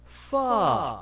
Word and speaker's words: Pho: This delicious soup is pronounced Pho.